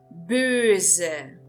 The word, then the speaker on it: böse: Nós temos a palavra böse. Böse. Verifiquem que eu estou pronunciando esse S com o som de Z, pelo motivo de esse S se encontrar entre duas vogais.